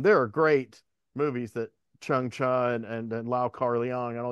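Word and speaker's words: Chang Cheh: on the blue rays and he says it's pronounced chuncha not like not like Chun Chu it's just like CH like you know you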